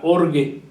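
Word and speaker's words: ὀργή: que es la palabra org org así se escribe así como se oye con je con g de gato org y esta palabra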